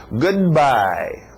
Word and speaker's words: goodbye: Igual o choque de o D com o M em good morning, então o D e o B. Goodbye, choca, então engole o D. Goodbye.